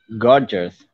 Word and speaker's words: gorgeous: Gorgeous. Religious. It's gorgeous and religious. Gorgeous. Gorgeous. Gorgeous, gorgeous. Don't drag it out. It's just plain gorgeous. Gorgeous. Don't try to make it into another syllable.